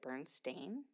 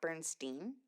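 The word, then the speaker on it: Berenstain: with me I'm like wouldn't my mom have pronounced it Bern stain not Bernstein why did why did I grow up thinking it was Bernstein mhm I specifically remember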